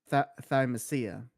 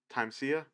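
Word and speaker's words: Thymesia: how is it pronounced it's not pronounced thymusia is pronounced tansia time Sia like yeah like yeah times here because the the root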